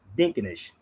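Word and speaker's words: Dinkinesh: So, it's pronounced Dinkenesh.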